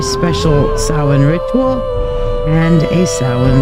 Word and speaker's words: Samhain: that and there you're like it looks like Sam Hayne yes it does look like Sam Hayne but it's not it's pronounced sa okay so there you go but